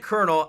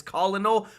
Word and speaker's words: colonel: sometimes the American language it's c o l o n l is if you pronounce it like sound it out it's colonal but we're supposed to pronounce it colonel for whatever reason Tulsi